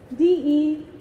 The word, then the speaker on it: Decerry: Not their namesake, D-E-C-E-R-R-Y, pronounced as Decerry. After my dad's birth month, December, and my mom's nickname, Cherry.